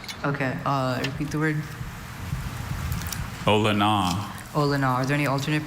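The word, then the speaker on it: olona: Ola. Ola. Are there any alternate pronunciations?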